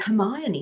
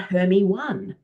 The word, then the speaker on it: Hermione: I learned her name is Hermione, not Hermie 1. Now, in that incident, it didn't matter that she mispronounced it because she understood the concept of what Hermione was.